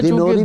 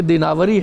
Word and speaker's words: دیناوری: خوبصورت حکایت لکھی ہے۔ اچھا، یہ دیناوری ہے تلفظ اس کا؟ جی ہاں، شجرے میں دینوری بھی لوگ دینوری کہتے ہیں، لیکن شجرے میں چونکہ دیناوری ہے، اچھا، جو باقاعدہ وہ اعراب کے ساتھ، تو اس لیے میں